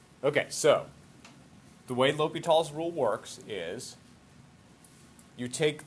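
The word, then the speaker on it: L'Hôpital: ass into that look like hospital but it's pronounced lobito okay so the way l'hopital's rule works is you take the derivative of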